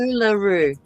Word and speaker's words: Uluru: Thank Uluru.